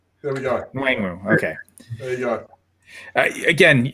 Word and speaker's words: Nwangwu: Kenway Nwaganu? Yeah. Okay. you got that, Gerson. Minnesota, 119th overall. Nwangwu. There we go. Nwangwu.